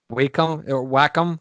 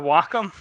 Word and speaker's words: Wacom: What, Wacom? Wacom. I say Wacom because it's supposed to be. It's short for. I think it's short for Washington Computing or Washington Communications or something like that.